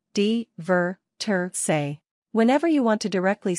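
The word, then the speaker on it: divertirse: way to describe the action of having fun pronunciation dver say whenever you want to directly say that some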